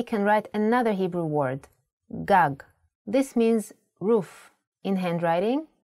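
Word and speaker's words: גג: If you were to see this word written, you might want to read it as gag. There is no vowel sound. In Hebrew, the vowels are often not written. You would know that this word is pronounced gag because it has been taught to you before.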